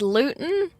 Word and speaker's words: Luton: It's Luton? Like gluten? Yeah.